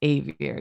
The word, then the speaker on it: Xavier: I knew this kid who their name was like that, but they're like, it's Xavier. You got to pronounce the X hard.